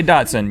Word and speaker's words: Dachshund: You say Dachshund, you don't say Dachshund. That's how you spell it, though.